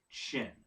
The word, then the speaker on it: Qin: It looks like Qin. I should preface this all by saying the word looks like Qin. It's Q-U and then apostrophe I-N, but it's pronounced Chin or Chin.